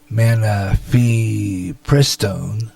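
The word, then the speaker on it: mifepristone: it's a well known tax haven ru-486 or man fee pris tone because that's how you pronounce it me me fur press tone was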